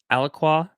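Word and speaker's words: Alaqua: very excited because, uh, the Aliqua, I believe is how you say her name, she's phenomenal, and I'm just really excited.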